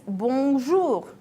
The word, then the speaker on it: bonjour: The most usual greeting is bonjour. Try to pronounce it correctly. The sound should go through your nose.